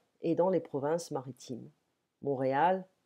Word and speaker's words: Montréal: Montréal, on ne prononce pas le T en français, et après Paris, la plus grande ville francophone du monde, plus grande que Lyon ou Marseille.